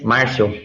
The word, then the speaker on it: Marcio: But I would like to ask I'd like to ask Marcio, am I pronouncing his name correctly? Yes, Marcio.